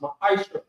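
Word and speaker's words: מעשר: Means 10 in the Hebrew and is pronounced ma'aisha.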